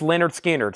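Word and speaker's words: Lynyrd Skynyrd: Productions this is 100% analog mastering 45 RPM pronounce Leonard skinnard $64.99 hope everybody has at least one copy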